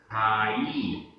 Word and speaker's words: खाई: उच्चारण खाई, खाई, यहाँ ई की मात्रा ई जो है वो बड़ी है।